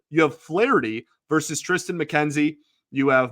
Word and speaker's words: Flaherty: You have Flaherty, excuse me, pronounce the H really heavy there, like I did in his introductory episode. You have Flaherty versus Tristan McKenzie.